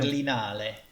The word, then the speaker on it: Berlinale: Berliner, how do you pronounce it? You know, the film- Berlinale.